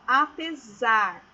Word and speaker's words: apesar: Então, vamos ler, ó, apesar. Então, a fonética dessa letra S é do Z, tá?